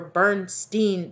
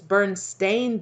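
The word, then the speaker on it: Berenstain: all of my friends remember bernstein bears s-t-e-i-n but it's not it's come out here recently over the past few years that it's burned stained bears it's spelled with an a like in any anything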